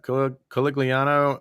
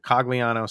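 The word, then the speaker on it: Cogliano: the time too yeah coligliano is cagliano sorry i threw an extra italian syllable in his name um you know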